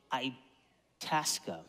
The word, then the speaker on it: Itasca: be found in uh i i tasca sorry i'm trying to remember how to say it itasca state park and i